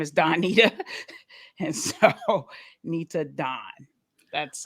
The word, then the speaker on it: Nitadon: So my name, Nitadon, is you ready for this? Yeah. It's really my name backwards. So my name is Donita. And so Nitadon.